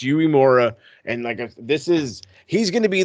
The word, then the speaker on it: Uemura: I can never pronounce his first name properly, but it's Uemura.